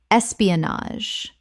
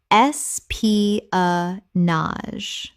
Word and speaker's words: espionage: tsu-na-mi tsunami Word 223, espionage. Common mispronunciation, es-pi-o-nage. Correct pronunciation, es-pi-a-nage. Four syllables with the final GE making a z sound.